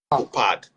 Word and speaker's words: Chopard: Chopard, but it's called Chopard. So diamond. Yeah, it's silent.